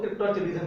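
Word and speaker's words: cryptorchidism: ठीक है, that is spelling mistake हो सकती है, पर उसको क्रिप्टोरचिडिज्म ही बोलते हैं।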